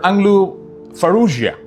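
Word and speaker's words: Anglu Farrugia: Uh a few years ago I took an interview with Mr. Anglu Faruia that is how they pronounce his uh speaker in parliament of Malta.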